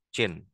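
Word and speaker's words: Qin: Cina makanya disebut dinasti jin Nah ini bacanya Yang pertama adalah Jin seuw Wang Ya ya guys nah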